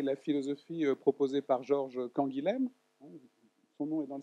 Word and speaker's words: Canguilhem: Donc vous voyez comment s'écrit Canguilhem, C-A-N-G-U-I-L-H-E-M, que lui-même probablement prononçait plutôt Canguilhem, hein, parce que c'est Castelnaudary, dans le sud-ouest, hein, mais je le prononcerai Canguilhem. Hein. en parisien du 15e arrondissement.